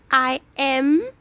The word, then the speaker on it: Naim: It's pronounced Nai''im.